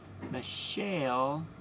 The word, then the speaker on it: Mishael: Among these was the name Daniel, Hananiah, Mishael, spelled just like Mom's name, except for kind of like Michael. Sounds like Mom's. Mishael.